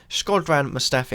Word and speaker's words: Shkodran Mustafi: Shkodran Mustafi, I believe that's how you say it.